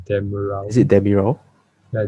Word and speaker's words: Demiral: So like you said, Soyun Chu and the UV defender, I don't know how to pronounce his name, Demiral. Is it Demiral? Yeah, Demiral.